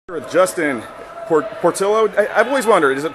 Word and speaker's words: Portillo: With Justin, Portillo? I've always wondered, is it Portillo or Portillo? Yeah, I prefer Portillo. Portillo's how it's supposed to be pronounced.